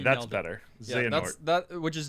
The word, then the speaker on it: Xehanort: And there's a bad guy you meet right away whose name I can't pronounce, so I refuse to. Xehanort. Try. Yeah, No. Xena's heart.